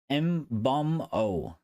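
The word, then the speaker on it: Mbeumo: Um it's pronounced mbumo bumo.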